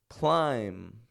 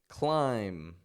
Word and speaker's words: climb: bomb bomb num num so each of these words is spelled with a B on the ending but none of them have that b pronounced so check this out even if we add more letters onto those words the B remains silent so instead of saying